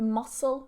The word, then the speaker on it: mussel: It's pronounced exactly the same as the little crustacean, the seafood, the one in the black shell that you boil, and then you can eat it, of course. You take the mussel from inside. They have the same pronunciation, but different spellings.